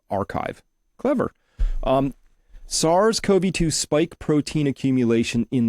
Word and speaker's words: bioRxiv: That's how you pronounce this little piece up here, R. That's the Greek letter chi. So archive.